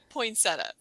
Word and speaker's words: poinsettia: I'm going with poinsettia. I would say that as well, and you are correct.